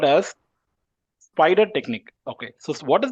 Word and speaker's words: SPIDR: is the spider taking spider means it's not spider actually the spelling is s p i d e r right a normal spider but just for pronunciation I have mentioned spider yes p i d